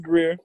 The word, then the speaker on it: Greer: You don't pronounce that grr like a lot of people up there? Nah, it's just Greer.